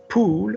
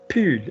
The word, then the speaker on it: pull: Luc dit que mon pull, because poule would be a mother hen, such as myself to all of you, une mère poule. Yeah, pull, because the word is pullover from the English pullover, spelt P-U, pu.